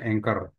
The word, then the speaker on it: anchor: bendera namanya anchor ya tulisannya Ancor gitu ya Tapi bacanya anchor nah ini kita buka